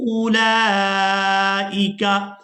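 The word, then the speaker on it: أولئك: रू नसरू आव नसरू उलाइका। अब यहाँ पर भी आप लोग वाव देख रहे हैं, इस वाव को भी अदा नहीं करेंगे, ये वाव भी साइलेंट ही रहेगी।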